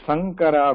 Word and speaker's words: Sankara: The next Sankara will be Saraswati Sa, or in our book, in our note, it is given Solavaramani Sa. Sankara.